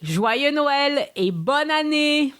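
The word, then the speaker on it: Joyeux Noël: christmas and happy new year repeat after me joy noel and the french history brief this week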